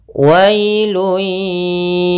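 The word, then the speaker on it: وَيْلٌ: Kemudian ayat yang selanjutnya, wailun yawma idzin lil mukazzibin. Pada lafal wailun, wailun di sini ada bacaan lin, yaitu pada lafal wa ketemu dengan huruf ya sukun, maka dia lembut dalam pelafalannya.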